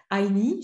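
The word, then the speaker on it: INEE: C'est un réseau qui est connu, c'est le réseau INI, je le dis en anglais, parce que je pense que c'est plutôt comme ça qu'il faut le prononcer.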